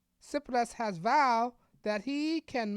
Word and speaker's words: Tsipras: suspense plus six plus I know you think the T and s sounds s tsipras right tsipras has vowed that he